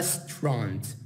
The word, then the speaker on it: restaurant: restaurant، أفضل لك الفضها restaurant. restaurant restaurant يعني هذا المقطع لا تقرأ، هذا المقطع الأي كأنما أنت ما شفته.